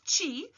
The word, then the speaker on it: Qi: something called Chi so even though it's spelled Qi it's pronounced as Chi like Tai Chi that you see and